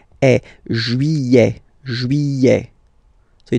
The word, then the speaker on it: juillet: Juillet. Don't pronounce this final T, E-T here at the end. Eh. Juillet.